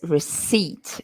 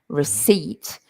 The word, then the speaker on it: receipt: for pronunciation receipt notice receipt we don't pronounce the P receipt and that is the